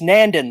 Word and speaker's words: Nandin: It's Nandin, like Brandon, but with Nandin, like Brandon.